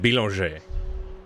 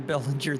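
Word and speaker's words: Bélanger: I mean, I pronounce it Billanger. Yeah, that is correct. He is Canadian. I've been called him Bellinger this whole time.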